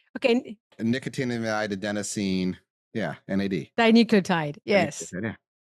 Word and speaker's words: Nicotinamide: So, how do you pronounce Nicotinamide. Nicotinamide. That makes more sense. Like trying to pronounce, like, I'm not sure how. Okay. Nicotinamide, adenosine.